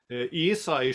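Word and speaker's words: Eisai: Also der Eisei spricht man ihn in der Regel aus.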